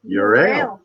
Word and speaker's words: Euryale: pronounce it another way how do you pronounce it we say our beer is your a okay there we go